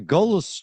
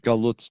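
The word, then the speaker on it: גלות: They looked at themselves as a nationality, and the Golos Jew, you pronounced it Galut Jew, same thing, just with a different accent. You have a European accent. You're talking with a Middle Eastern accent. Same thing, like, tomato, tomato.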